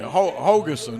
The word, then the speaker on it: Hogeson: Hogeson is how they told me.